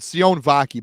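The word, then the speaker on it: Sione Vaki: day they don't just it's cion vaki by the way too is how you pronounce it you don't like you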